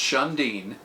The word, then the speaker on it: Shun'Diin: So the name SHUN'DIIN Tours, it's pronounced SHUN'DIIN, And the SHUN'DIIN in the Navajo culture means radiant sun rays, right?